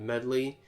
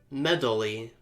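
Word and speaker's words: Medli: A young girl named Medley is holding it for me. Would you find her and take it? And I and also as a kid I pronounced her name as Medddaly.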